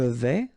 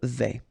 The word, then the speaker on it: vais: Je vais, final S not pronounced here, and remember when you combine this A and E together you get the sound E, so really open. Je vais.